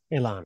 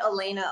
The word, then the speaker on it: Elana: Elana, okay. I always put the emphasis on the wrong syllable 100% of the time. Spelled a little fun. I get Elena a lot, but it's Elana.